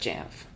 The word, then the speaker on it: Jamf: and user engagement team at jamf and yes that is how you say it just jamf jamf was born from